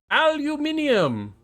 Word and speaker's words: aluminium: And yeah, aluminium. Well, at least that's how it's pronounced to the friends across the pond.